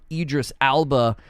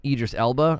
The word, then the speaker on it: Idris Elba: you got ear just Idris Alba or Elba in it Idris Elba I think it's how you say it as Solomon Reed so